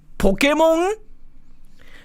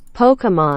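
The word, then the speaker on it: Pokémon: you pronounce this word how do you pronounce it Pokemon it's not Pokemon it's not Pokemon it's not Pokemon either not American it's all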